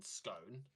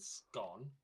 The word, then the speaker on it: scone: well I can understand scone I can understand scone if you consider him like Stone and gone but by that same